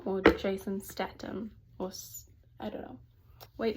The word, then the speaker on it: Jason Statham: Oh gosh, is it Jason Statham or Jason Statham, or I don't know.